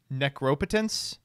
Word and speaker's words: necropotence: Well, the problem is the right way to pronounce that is necropotence. But, like, it just sounds wrong.